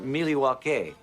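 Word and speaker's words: Milwaukee: Actually, it's pronounced Milliewake, which is El Gangquin for the good land.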